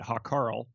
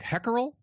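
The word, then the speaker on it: Hákarl: They're all going to pronounce it Hakarl, but I think it's closer to like Heckerel, like mackerel almost.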